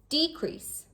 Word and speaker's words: decrease: Decrease or decrease.